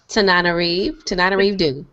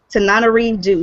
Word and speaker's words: Tananarive Due: You got to pronounce her name for me again. Tananarive Due. Tananarive Due.